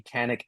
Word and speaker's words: Kanik: it's a soft a well it's just can and then ick ick yeah exactly it's